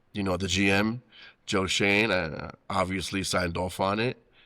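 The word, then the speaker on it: Schoen: Um but you know I I was told afterwards that is pronounced Shane not showing though it's spelled showing but uh want to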